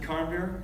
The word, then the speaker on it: Carnbeer: And again, I pronounce it Carnbeer? Yep, you got it.